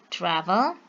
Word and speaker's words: travel: Because American English in this word travel, they stress in the first syllable, travel, traveled.